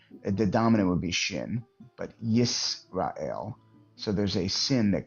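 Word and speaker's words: ישראל: Yeah, the Israel is Yasharal, correct? Yisrael. Yisrael. Okay, I don't Yisrael, have yeah.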